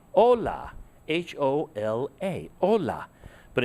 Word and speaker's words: hola: okay you say hola h-o-l-a hola but in spanish we don't pronounce the h so really what you're